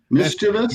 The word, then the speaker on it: mischievous: are and that is that is pronounced incorrectly all the time it's up to the shenanigans then it's ministerous mischievous mischievous yes mischievous media we're sitting